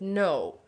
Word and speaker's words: know: it but we do not pronunciate it no say it again no perfect like I know how to write the word no it has a silent K at the beginning great that bad story